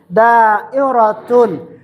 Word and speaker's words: دائرة: How you say it? How you read? Da, and then hamza is here with kasra. Da'i. Then ra fatha'a da'ira. Then ta marbuta is here. Tanwin dhammatun. Da'iratun.